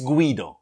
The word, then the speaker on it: Guido: lot of English people English speaking people pronounce it g no it's Guido Guido okay so I comment